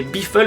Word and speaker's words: Biffle: Alors oui, je sais que c'est un pilote américain, du coup ça va se prononcer Biffle, mais bon...